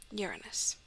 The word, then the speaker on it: Uranus: there was this guy uranus trust me that is how it's pronounced by academics i looked it up